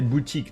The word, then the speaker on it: boutique: dogos through that is the same I think in English but in French we say Boutique not I mean it's kind of similar but the pronunciation is not exactly the same and I think we've